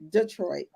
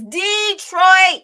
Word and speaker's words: Detroit: not dallas detroit and make sure you pronounce it right it's not it's not detroit is detroit it's detroit that's what makes them